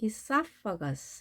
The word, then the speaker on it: esophagus: esophagus라는 강세는 O에 있습니다. 그래서 E는 약하게 발음하고 esophagus 이렇게 해주시면 되겠습니다.